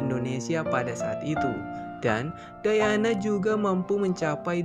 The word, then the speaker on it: Diana: Diana. Diana, right? I don't know why many people think that my name is pronounced like Diana or Diana, but my name is pronounced like Diana.